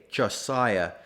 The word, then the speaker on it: Josiah: pointed out that Josiah could be spelled phonetically j-o-s-a-y-a Josiah but the man himself begs to differ he insists on Josiah without the H just as he insists